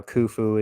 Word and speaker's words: Khufu: is khufu's Cartouche now Khufu is the and it's Khufu right you have to make them you have to clear your throat a little bit before you say his name uh the drawing below